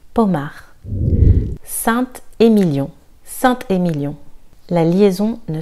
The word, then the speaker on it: Pommard: Pommard. Le D est silencieux. Pommard.